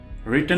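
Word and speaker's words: written: रिटन में W silent है। इसको आपने बिल्कुल नहीं पढ़ना है।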